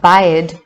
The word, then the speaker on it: baed: The first is ba, from the Irish word bod, meaning a tail, the male organ of generation, fire, and baed, pronounced ba, meaning love, affection, regard, friendship.